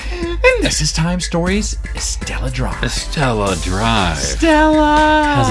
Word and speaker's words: Estella: Is it Estrella? Am I saying it wrong? No, it's Estella.